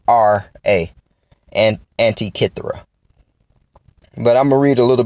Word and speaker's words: Antikythera: J and the intellect back real quick want to bring up a topic about Antikythera mechanism the Antikythera Antikythera mechanism well this was